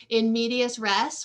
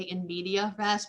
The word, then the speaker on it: in medias res: probably heard this term in medias res, which is really hard for me to pronounce because I want to always say in media res, but there is an S there.